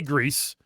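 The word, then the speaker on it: Gris: It's uh And how do you say it's a G R I S. I say Greece. What do you say? Is it Greece is actually correct.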